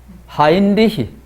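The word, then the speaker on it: Heinrich: 헨리라 하면 이거는 미국식 발음이거든. 미국식 이름이거든요. 독일 황제인데 무슨 헨리입니까? 헨리 같으면은 넉자로 독일식으로 고치면은 헨리. 어떻게 고치면 좋을까요? 하인리히. 하인리히 사세입니다.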